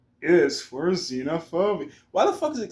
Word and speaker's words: xenophobia: X is for xenophobia. Why the fuck is it xenophobia? But it sounds like a Z, but spelled with an X.